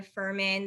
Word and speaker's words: Fuhrman: my name at furman there's a silent h in my last name i'm sure you'll have